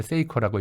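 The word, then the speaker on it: Seiko: 전공사인데 세이코라고 읽어요.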